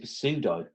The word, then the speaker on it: pseudo: But the word pseudo's got the word P in it at the start. So I used to pronounce it as pseudo, because I didn't know it's silent.